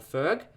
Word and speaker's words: FERC: climate thing is doing was called ferg but it's spelt f-e-r-c so he's pretty much um